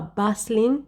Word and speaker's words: bustling: is a bustling city take note of the pronunciation it is a bustling city the tea is silent it is a bustling